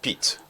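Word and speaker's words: Pete: Donc c'est P Pit Pit Pit votre nom est compliqué hein. P E T E on lit Pit ou Pit incroyable.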